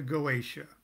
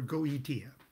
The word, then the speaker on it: Goetia: John Dee and the Goetia, or Goetia. Pronounce it any way you want.